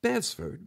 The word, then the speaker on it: Bevsford: Just tell them Bevsford sent you. That's right, folks. Bevsford, with a silent T, has expanded his business